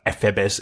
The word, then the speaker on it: Ephebes: Ephebes is the proper Greek pronunciation.